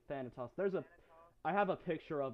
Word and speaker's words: Thanatos: It's Thanatos. Thanahos? Thanatos. I think I'm pronouncing that correctly. Thanatos.